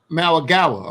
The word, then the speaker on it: Mauigoa: And I think we can go ahead and kick that off with your guy, how you say it, Francis Mauigoa? Mauigoa.